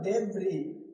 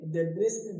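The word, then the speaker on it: debris: डेब्रिस, डेब्री का मतलब क्या होता है, मलबा। यहाँ डेब्रिस नहीं पढ़ना है, यहाँ एस क्या है, साइलेंट है, ठीक।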